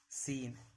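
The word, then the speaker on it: scene: सी कब साइलेंट रहता है? जब सी के पहले एस हो। जब भी सी के पहले एस रहेगा तो सी साइलेंट रहेगा। साइंस मसल सीन यानी सी का उच्चारण नहीं करना है।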